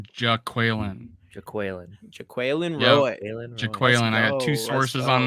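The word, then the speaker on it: Jaquelin: LSU defensive lineman that has a particularly female spelled name pronounced in a male way who knows but we'll see we gotta we got an official pronunciation now it's Jack Whelan I got two sources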